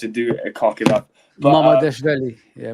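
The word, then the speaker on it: Mamardashvili: Mama Deshveli. Yeah, Mama Deshveli.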